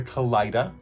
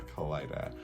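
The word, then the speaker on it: Kalidah: This is a kaleida. That's that's how I pronounce it.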